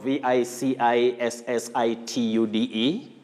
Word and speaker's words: vicissitude: demystify that for us oh you're talking about v-i-c-i-s-s-i-t-u-d-e yes yes you say this this is as